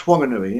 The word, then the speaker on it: Whanganui: He ruled an area from Christchurch all the way up to Whanganui, with an H, John, that's with an H, yeah. Yeah, pronounced Whanganui, yeah.